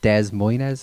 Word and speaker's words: Des Moines: Sorry, I actually think it's pronounced Des Moines, Iowa.